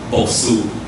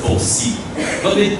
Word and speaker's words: Boksu: And if you base it on the actual, supposedly, Jinjiang pronunciation of it, the Su there is supposed to be a C. So it's a Boksi. But no one here really says Boksi, it says Boksu, because it's mostly used